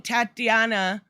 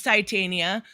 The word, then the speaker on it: Titania: the closest thing so i keep saying tatiana because tatiana mosley or however you say her name is she-hawk but i know it's titania but i never had